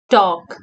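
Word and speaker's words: talk: के स्पीक उरा गर्नु टॉक टी ए एल के टॉक इस्मा पनी L silent T ए एल के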